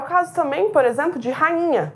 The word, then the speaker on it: rainha: É o caso também, por exemplo, de rainha. Eu vou escrever o NH, mas eu pronuncio como? Rainha. Nha. É um som só, representado por duas letras.